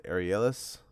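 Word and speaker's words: Arrhenius: right and this we have to use the arielis aeronautics i'll spell it u a-r-r-h-e-n-i-u-s equation which is k the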